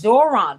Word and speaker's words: Zohran: I don't know why I wanted to make him Cororon, but he's Zoron Mandani.